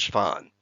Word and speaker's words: Schwann: German or Austrian, but named after a researcher whose name would be pronounced Schwann.